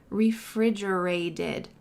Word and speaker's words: refrigerated: Refrigerated. Refrigerated. That final t is going to sound like a d in American English because it's surrounded by vowels.